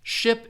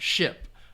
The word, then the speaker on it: ship: to load is it so again ship is that um is that the the short I sound ship uh and sheep is the long e sound so let me see